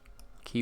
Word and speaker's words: quay: of the ocean maybe along this quay key wall sorry not not quite key well how you pronounce it correctly i believe and it's